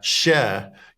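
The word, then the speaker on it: Kärr: bounce up to Nora SC how do you pronounce that share share k a r r share okay um can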